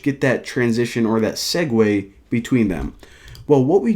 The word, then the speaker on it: segue: click the button now a segue of course that's how you pronounce that word actually didn't even know